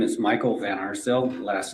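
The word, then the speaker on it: Van Arsdale: My name is Michael Van Arcil. Last name is spelled V A N A R S D A L E.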